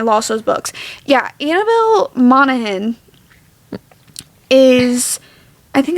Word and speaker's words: Monaghan: Yeah, Annabelle Monaghan is, I think it's how you pronounce her name. Somebody told me the G is silent. Annabelle Monaghan.